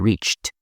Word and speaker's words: reached: He thought he had reached, con ese T fuerte, reached Asia. Reached se escribe con D, claro, pero palabras que acaban con CH, en pasado, solemos decir reached Asia.